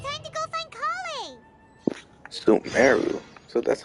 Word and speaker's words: Sumeru: Sumeru.